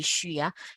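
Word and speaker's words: xu: u s 3 okay X U by default will always be sure even though the U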